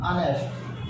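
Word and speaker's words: honest: कुछ उच्चारण ऐसे होते हैं जो आप जानते ही नहीं है तो फिर करेंगे कैसे, देखिए अब वो देख लीजिएगा है, जैसे आपका ये रहा आवर, ये रहा अनेस्ट, ये आवर है ये अनेस्ट, जब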